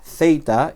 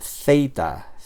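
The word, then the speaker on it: ζήτα: Zita. Y es ah el sonido en inglés sería el sonido th, ¿vale?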